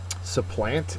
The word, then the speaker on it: supplant: Surplus antonym is essential supplant is next okay and supplant is a verb uh the first sorry the second syllable is accented and it's to take